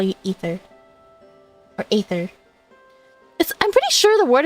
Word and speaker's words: Aether: I always said Aether, but I heard the VA say Ether, so I was like, oh, maybe that's how you pronounce it.